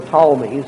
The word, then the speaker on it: Ptolemies: centred in egypt where the Ptolemies that spelled with a pee-pee tol in eli and he emerged in